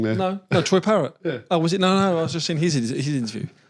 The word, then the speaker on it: Troy Parrott: Have I said his name wrong there? No, Troy Parrott.